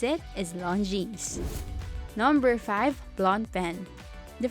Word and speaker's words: Longines: mispronouncing this ran as the appropriate way to pronounce it as Longines number five blonde pen the French translation of